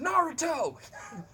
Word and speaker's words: Naruto: what a Nehru tow run is sir it's pronounced Naruto why did you say to me so but